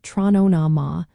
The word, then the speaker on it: Tráthnóna: Just remember to pronounce it trona, rolling the R and keeping it friendly.